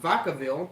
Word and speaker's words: Vacaville: I live in Vacaville, that's how you pronounce it, California, Northern California.